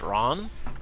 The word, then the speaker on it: Ran: pronounced Ron?